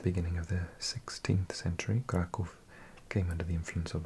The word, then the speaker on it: Kraków: Yeah, the thing over the O means it's a U sound, so it's Krakow, and this is a V.